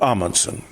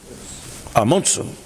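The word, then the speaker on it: Amundsen: Now I'm told by my Norwegian wife Tari to always pronounce his name properly. It's not Ammonson. Apparently I've got to say Amunum. Amunsum, Norwegian polar explorer who led the first exploration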